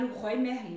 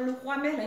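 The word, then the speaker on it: Leroy Merlin: O brasileiro deve chamar, pronunciar Le Roi Merlin, eu acho que deve ser isso. Mas se chama Le Roi Merlin.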